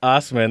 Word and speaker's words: Assman: Named David Ossman, spelled Assman. Pronounced Osman, and this article is sassy.